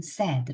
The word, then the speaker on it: said: "say" 가 아니라 "said " 입니다 , 여러분 . " 세이드 " 라고 발음 해야 합니다 .